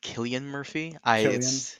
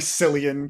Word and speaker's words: Cillian Murphy: by the way we apparently we pronounced his name wrong it's apparently Killian Murphy Killian yeah it's just British people he used a c okay I'm sorry sorry sillian Killian Killian Killian Murphy boys fine okay um